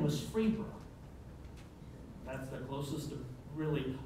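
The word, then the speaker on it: Pherbia: Now, after that, we get into a lot of Arkansas country names in my family, but Phebra is spelled P-H-E-R-B-I-A, Phebra.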